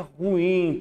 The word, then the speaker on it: ruim: palavra comum também é falar ruim mas se pronuncia ruim pessoal certo gratuito a